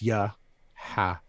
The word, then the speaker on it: Yahawa: It's Yahawa is the way we used to say his name, the Father, but it's Yahawa is the true pronunciation, and then the I.